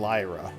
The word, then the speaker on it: Lyra: It's Elira and Lyra. They sound similar, but yeah, there's a syllable missing from Well, it's one like of them.